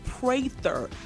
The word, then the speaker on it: Prather: It's Praver. Prager. Okay. See, like you're praying.